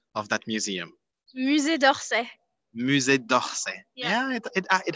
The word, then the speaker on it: Musée d'Orsay: How do you pronounce properly the name of that museum? Musée d'Orsay.